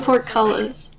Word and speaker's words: portcullis: It's not really... It's pronounced like how it's spelled.